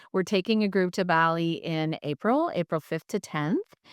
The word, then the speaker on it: Bali: So speaking of fun experiences and embodying this, let's talk about, is it Bali? Bali? I always say it wrong. Bali. Bali. Bali. Bali? I think we can say it either way.